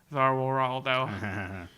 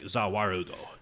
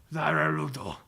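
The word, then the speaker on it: ザ・ワールド: Zarwaldo. You butchered that pronunciation. I fucking butchered. How do you say it? Well, it's technically called just the world. Oh, but they pronounce it like Zawarudo. Zawarudo.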